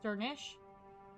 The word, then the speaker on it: Dernisk: Dernisk is Dernisk, I would say Dernisk, is pronounced Dernish, since the final SC cluster sounds like a sh sound.